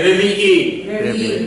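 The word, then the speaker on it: רביעי: Everyone say Rivi'i. Rivi'i. Rivi'i. Rivi'i. Okay? So give it to me. Reish, The shadow makes it short. Wow. Sorry, Wait. Wait. Beat. I connected with the youth. Ayin is silent.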